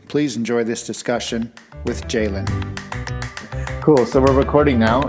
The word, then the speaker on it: Ceylin: In the beginning, I mispronounced Ceylin's name. It's Ceylin, but it's spelt with the letter C, so I said Ceylin.